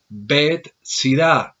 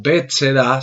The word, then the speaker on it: Betsaida: de una palabra hebrea, Bet-Sida o Bet-Seda, según como se pronuncie, casa de pesca, casa del pescador.